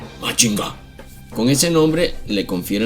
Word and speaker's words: Mazinger: El sonido al pronunciarlo en japonés es Machinga.